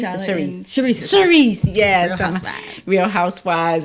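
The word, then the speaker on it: Charrisse: Clarice? Charisse, yes.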